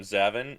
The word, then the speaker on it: Zavin: her zavin hi uh I pronounce my name zavin no worries zavin okay